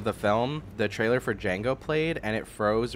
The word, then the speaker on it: Django: film, the trailer for Django played and it froze right when Jamie Foxx was about to say, "The D is silent."